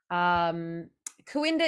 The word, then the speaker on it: Cooinda: Kawinda is spelled Cooinda.